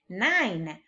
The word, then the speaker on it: nine: And there is also a silent E in this word.